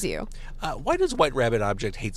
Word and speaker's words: wht.rbbt.obj: So for those Google searching, wht.rbbt.obj. Yes. Yeah, that's you got it. White Rabbit. We've been called White Rabbit Objective so many times, or